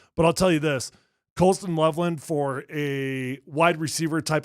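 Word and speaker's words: Colston Loveland: I like Colson Loveland. Did I say his name wrong last time? No, you got it. Well, you got it there.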